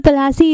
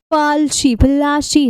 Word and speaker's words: Plassey: सो द प्लासी इज़ एन एंग्लाइज्ड pronunciation. इसका मतलब क्या है? ये इंग्लिश का जैसे एक्सेंट के तौर पे नहीं बदल जाते हैं, तो ये उसका प्रोनाउंसिएशन है। एक्चुअल में क्या है? ये पलाशी है।